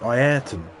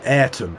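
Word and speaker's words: Senna: Center and how um his name's actually pronounced ieron uh rather than eron like the British uh pronounce it I guess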